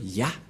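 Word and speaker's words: יה: Cette forme se prononce Yah.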